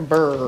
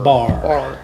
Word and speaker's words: BAR: Is that how you say it, or BUR? BAR. Yep. BAR stands for Building Assets and Reducing Risks.